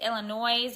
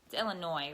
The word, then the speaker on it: Illinois: the S is it Illinois's or is it Illinois Illinois right you don't pronounce the S do you bulletproof build